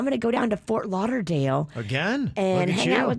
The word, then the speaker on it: Fort Lauderdale: So if anybody knows any cool restaurants in Fort Lauderdale. Oh, you're saying it wrong. Fort Lauderdale.